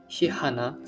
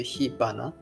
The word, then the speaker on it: 火花: And I'm not really sure about Japanese learners, but for native Japanese people, hihana sounds really wrong. So we changed it to hibana, so that it sounds a bit more natural. And also maybe same thing happened to hanabi.